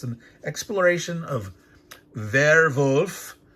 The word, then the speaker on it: Werwolf: So it's an unboxing, but it's an exploration of Werwolf, is the German pronunciation, werewolf.